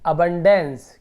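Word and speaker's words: abundance: तो इसका आप देखेंगे ABU है, तो इसे अबू नहीं पढ़ेंगे, यहाँ पे अ उच्चारण होगा। इसका उच्चारण अ होगा, यानी कि अबंडेंस। क्या होगा? अबंडेंस। देखिए अबंडेंस उच्चारण होगा।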